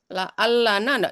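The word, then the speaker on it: لعلنا: Ini la'allana, jangan boleh dikurangi. la'allana. La'allana. La'allana.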